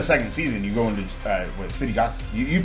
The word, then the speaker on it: Cittàgazze: Even the second season, you go into Cittàgazze. You pronounce it correctly. Cittàgazze.